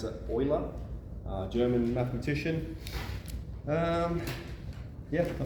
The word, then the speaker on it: Euler: called Euler's number it's spelled Euler but we pronounce it Euler German mathematician um yeah I think that's all